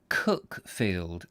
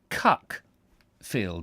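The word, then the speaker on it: Cuckfield: their spelling thus cook field is called locally cook field as opposed to cck field as it's spelled and we found afterwards the name of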